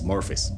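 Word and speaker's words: Morpheus: Pronunciation is Morphis.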